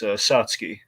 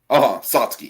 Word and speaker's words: Satsuki: But I believe the way we say in the movie, it's Satsuki. Satsuki. Yeah. Yes, Satsuki. There's like an extra U in there that's not pronounced.